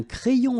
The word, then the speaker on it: crayon: And then when you get this Y between two vowels, then you will have this cré. So like if you would have I here, A-I, cré, and then another I here, ion. Crayon.